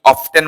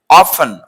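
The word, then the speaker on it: often: তারপরে এটা আমরা যারা জানে তারা তো বলে খেলাটা, কিন্তু অনেকেই অফটেন বলে থাকে, এটাও একই অবস্থা আগের মতো, নট অফটেন, টি সাইলেন্ট থাকবে। অফেন, অফেন তো প্রায়।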